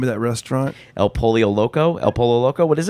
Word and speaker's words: El Pollo Loco: I think you were saying like polio. El Pollo. I think I am. How do you say it? El Pollo Loco. El Pollo Loco. You almost blend in the 2 last ones together. El Pollo Loco.